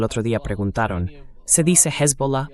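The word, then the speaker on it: Hezbollah: Primero que nada, él dijo Hesbola. La pronunciación correcta es hesbola.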